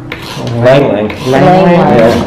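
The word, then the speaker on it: ylang-ylang: Langlang. Langlang. Lang. Yeah. The Y is silent.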